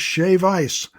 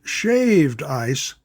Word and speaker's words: shave ice: Phoenix has shave ice. Not shaved ice. Shave ice. That's how they say it in Hawaii.